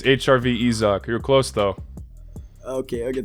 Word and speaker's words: HRVizak: very good channel on youtube by the name hr vizag am i pronouncing that right it's hrv izak you're close though okay okay thank you so